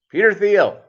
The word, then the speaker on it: Thiel: the man who pilots in his spare time peter thiel did i pronounce that properly doug yeah by the way